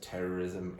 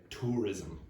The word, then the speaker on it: terrorism: Now, just uh for your information, uh Charles mispronounced terrorism earlier and said tourism.